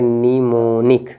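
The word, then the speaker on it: mnemonic: पहला letter silent हो जाएगा पहला लेटर एम साइलेंट तो इसको आप पढ़ेंगे निमोनिक क्या पढ़ेंगे निमोनिक ये हो गया अब इसमें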